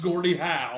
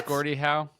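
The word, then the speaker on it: Gordie Howe: well Chris said it and it and it's pronounced Gordy how oh it is Gordy how it is Gordy how you didn't lock it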